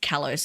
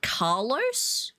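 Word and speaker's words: Kalos: Instead of callos, they call it Carlos. like Carlos.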